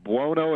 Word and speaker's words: Buono: I don't know if you can answer this or not, but Victor Buono, am I pronouncing his name right? Vic Buono, yeah.